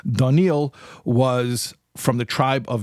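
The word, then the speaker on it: דָּנִיֵּאל: generations before okay so danil and that's the Hebrew pronunciation of Daniel at least in my accent daniil was from the tribe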